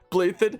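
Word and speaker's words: Balthus: Blythed, not how you thought it was pronounced, but it's that kind of name, so you expect the pronunciation to be kind of like that.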